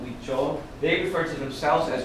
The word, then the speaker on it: Huichol: And as you know from Spanish, the H is silent, so it's spelled Huichol.